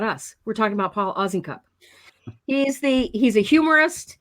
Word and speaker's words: Osincup: is in a cup oz is in a cup and the s the